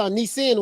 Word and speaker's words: Nissin: i said nissan yeah it's not nissan it's a nissin warrior i guess n-i-s-s-i-n yeah you said it corrected me i kept saying nissan warrior yeah you know